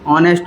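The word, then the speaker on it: honest: ये लेटर हुआ, लेटर तो कॉन्सोनेंट है, लेकिन जिसको हम पढ़ेंगे तो हमारे वॉवेल साउंड निकलेगी। जैसे ऑनेस्ट बोलते हैं इसको, तो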